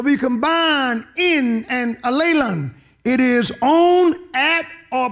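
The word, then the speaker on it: ἀλλήλων: The other word is allelon, A-L-L-E-I-O-N, allelon, which means one another. So if you combine in and allelon, it is on, at, or by both parties.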